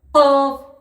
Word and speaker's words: قاف: কফ, কফ উচ্চারণ হবে আপনার এই কলকলা, গলার এইখান থেকে একটু ঝাটকা দিয়ে কফ, কফ উচ্চারণ। কফ কফ কফ।